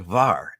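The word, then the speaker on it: Hvar: You can speak Croatian and pronounce this. Um, this is from the island, a wonderful island called Var, HV A R.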